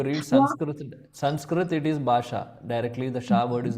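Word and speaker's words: भाषा: In this 54 sloka is it pronounced as basa or basha? Basha. Basha. Okay. Yeah. Because you know if you see there is a there is a dot under s correct.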